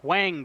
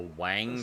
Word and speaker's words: Hwang: A Wang trailer? It's HWANG. Hwang. It's Hwang. Hwang. That's not how you say it. I don't. It's just that's the dumb American way of saying it.